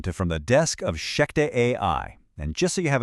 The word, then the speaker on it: ShechetAI: Welcome to From the Desk of Sheek AI. And just so you have it right, that's spelled S H E C H E T A I.